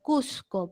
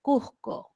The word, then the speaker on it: Cusco: La consonante S suena como J suave, como se pronuncia Cusco, por ejemplo. Cusco, Cusco, Cusco. Como si fuera la J, ¿no? No dicen Cusco, sino Cusco.